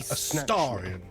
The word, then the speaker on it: Astarion: I was in Baldur's He pronounces it like that. Astarion.